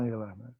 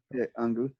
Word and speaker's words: Angela: pronúncia alemã, Angela. Angela.